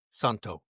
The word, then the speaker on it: Santo: It's Nuno Des Santos, isn't it? Is that correct? Santo. Do Santo. Oh, there's no s on it. It's not singular, not plural. Nuno espiritu santo.